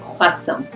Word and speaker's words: croissant: You pronounce it croissant. Croissant.